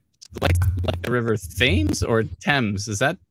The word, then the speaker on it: Thames: river thames or thames is that thames t-h-a-m-e-s the river is pronounced thames or pronounced thames probably thames uh atlanta's